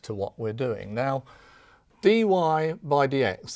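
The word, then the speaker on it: dy/dx: what we're doing now dy by DX that's the way that we pronounce this expression here now this this doesn't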